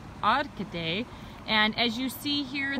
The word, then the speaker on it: Arcade: how actually it spelled arcade but it's actually pronounced odd today and as you see here this is a